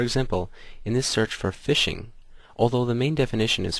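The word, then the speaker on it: phishing: Fishing, pronounced fishing, is an online fraud technique used by criminals to lure you into disclosing your personal information.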